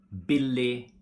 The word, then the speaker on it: billig: We don't pronounce the G when it's in a combination with I, like for example, billig, riktig, viktig.